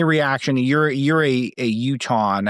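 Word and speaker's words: Utahn: You're you're a a Uton. How do you say someone from Utah? Uh Uton.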